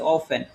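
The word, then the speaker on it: often: মনে রাখতে হবে যে এফটি এন যদি একসাথে থাকে তাহলে আমাদের এখানে টি এর উচ্চারণটা হয় না মানে টিটা হচ্ছে বাদ যাবে তাহলে আমরা এটাকে বলব এখন থেকে হচ্ছে অফেন তাহলে অফেন মানে কি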